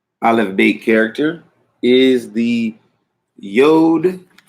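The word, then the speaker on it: יוד: The 10th Aleph Beit character is the Yod. Some pronounce it Yud, Yad, Yad.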